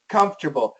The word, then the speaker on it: comfortable: And George, even without the we still say Comfortable. So I want you to practice this when you can. Comfortable, comfortable. 3 syllables, okay?